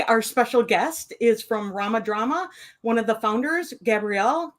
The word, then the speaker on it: RomaDrama: And we're saying it right. RomaDrama. Yeah. Romantic dramas.